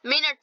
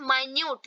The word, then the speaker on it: minute: आप कभी कल देखिए यहाँ पे मिनट स्पेलिंग सेम है। मिनट मतलब होता है यूनिट ऑफ टाइम, हम लोग टाइम में यूज करते हैं। और एक होता है माइन्यूट, इसी को हम लोग क्या पढ़ेंगे माइन्यूट, ठीक है।